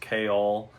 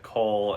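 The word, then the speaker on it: Chaol: main people: Selena, Cole, which I know it's pronounced Kale, or something like that, but my wife always said Cole, and that's what I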